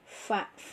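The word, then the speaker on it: ف: Cara pengucapannya adalah gigi kelinci, dua gigi kelinci tempelin ke gigi perut gigi bawah, fa, seperti itu. Jangan bibir sama bibir, nanti bibir sama bibir menjadi papa, ya.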